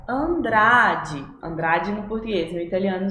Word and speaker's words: Andrade: Porque vocês lembram, já expliquei aqui que a gente não fala de com Andrade, mas sim Andrade, de, sempre bem ali nos dentinhos, né? Andrade.